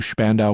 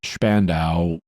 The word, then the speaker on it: Spandau: He was then confined to Spandau prison in West Berlin. In German, the name is pronounced Spandau. In English, it's pronounced Spandau, and you may hear me say it both ways.